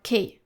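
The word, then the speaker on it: cœur: with the word k, the liature is followed by u which is a vowel. Therefore, we are going to pronounce C like the letter K.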